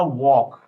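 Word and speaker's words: walk: ऐसा साउंड जो जो ऐसा लेटर जो लिखा तो है लेकिन बोला नहीं जाता जैसे कि डब्लू ए एल के हमने बोला वॉक अब वॉक है तो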